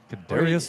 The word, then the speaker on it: Kadarius: Tony how do you say it's canarius yeah Kadarius Tony he put his ring on the middle